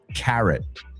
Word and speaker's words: carrot: Carrot. Ya no es una O. Yo sé que es una O, pero no se pronuncia una O.